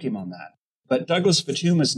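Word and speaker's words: Futuyma: The author's name is Futuyama, and it's Futuma. That you took from an undergraduate textbook, you took from Futuma. I actually cited Futuyama, Futuma, and I... He adds an A and he mispronounces it.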